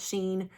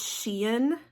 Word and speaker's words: Shein: I never know if, I always used to call it Sheen, Shine. I think it's Shein, how everybody pronounces it.